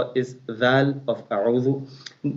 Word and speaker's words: أعوذ: In this a'udhu, some people, they make mistake because of ain. They make hamza as also ain. No, ain is ain. The hamza of a'udhu, like letter a.